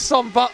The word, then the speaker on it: Zomboddy: Here's Zomboddy Here's Zomboddy. That's a good way to remember how to say it is you say it's somebody and you just change a one or two syllables around.